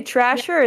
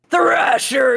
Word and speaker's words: Thrasher: What did you say, Trasher or Thrasher? I said Thrasher. Sorry, it's pronounced Thrasher because I'm a street Thrasher.